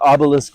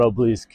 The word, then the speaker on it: obelisk: coming back to this obelisk manner. So, that's how it's pronounced. Obelisk, not oblisk, which makes much more sense with the way it's spelled, obelisk.